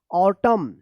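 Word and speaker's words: autumn: है आप ध्यान रखिएगा अगर एम और एन एक साथ लिखा गया है किसी भी वर्ड में तो यहां पे एन जो है ना ये साइलेंट रहता है और एम का उच्चारण होता है।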